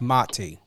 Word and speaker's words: Mati: It's very important to know how to pronunciate. And I get it. You know, sometimes you don't correct, but it's Mati.